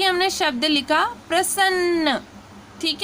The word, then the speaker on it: प्रसन्न: तो यहाँ पे देखिए, यहाँ पे ये जो बिंदु आ रही है और जो इसका प्रोनाउंसिएशन हो रहा है वो प्रसन्न, तो सन्न आ रहा